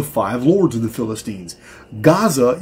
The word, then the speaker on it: Gaza: Gaza is actually pronounced Geza and could easily be the origin of the present Giza.